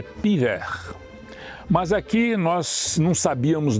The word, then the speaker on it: Puyvert: Vale aqui um parêntese que é lembrar que os franceses não pronunciam essa letra U. Então eles dizem que a cidade é piver.